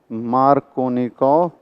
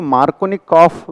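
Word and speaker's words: Markovnikov: एंड उसने जो generalisation दिया उसको नाम दिया उसने मार्कोनिकोव रूल। अब इसी को मार्कोनिकॉफ भी बोलते हैं, मार्कोनिकॉफ, KOFF। अब ये रशियन नाम होते हैं, दो अलग अलग तरीके से प्रोनाउंस किए जाते हैं।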